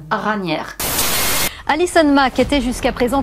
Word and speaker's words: Raniere: Bref, on va le prononcer à la française, Raniere.